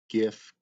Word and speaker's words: GIF: then the dictionary said gif may be pronounced with either a soft g or a hard g as in graphic i mean it says